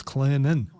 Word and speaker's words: Clinton: So glad to be back in Clinton. Because they don't pronounce the T, which is just weird. Clinton. It's Clinton.